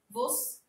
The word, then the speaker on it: você: Você. Tá certo a pronúncia?